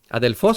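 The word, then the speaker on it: ἀδελφός: Adelfos sería la pronunciación correcta de de la escritura de esta palabra en griego.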